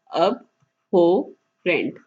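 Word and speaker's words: abhorrent: तो हमारा जो फोर्थ वर्ड है वो है अबोरेंट। अबोरेंट जो है वो एडजेक्टिव है, ठीक है, इसकी फॉर्म एडजेक्टिव है। चलिए हम इसकी प्रोनाउंसिएशन देख लेते हैं। अब हो रेंट, इसको इकट्ठे पढ़ेंगे तो ये हुआ अब हो रेंट।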